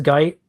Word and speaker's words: Guite: Malcolm Guite It is Guite? Yes, it is. It rhymes with white.